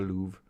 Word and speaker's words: Louvre: Yeah, you're saying it right. The Louvre.